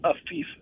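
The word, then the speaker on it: Afeef: Yes, it's Afif. So A as in Andrew. Yep. F as in Frank. Yep. I. No, two E's. Two E's. And then F. And then F. Okay, so Afif.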